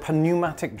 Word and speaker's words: pneumatic: It's called a pneumatic drill. I think the P is silent. P is silent.